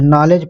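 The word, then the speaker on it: knowledge: इसको क्या पढ़ते हैं नॉलेज पढ़ते हैं ना नॉलेज और ये के क्यों नहीं बोला जा रहा है के बोला नहीं जा रहा है तो ये जो है अंग्रेजी जो है साइलेंट होती है तो राइट आंसर अ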